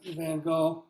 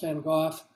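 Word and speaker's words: Van Gogh: still alive you know as opposed to being the van go which should be pronounced van goof uh you know where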